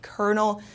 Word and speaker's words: colonel: their title so like Colonel Sanders etc for example I had to follow the Kernel's order so here the l sound is not pronounced at all it is uh turns into an R okay animony an animony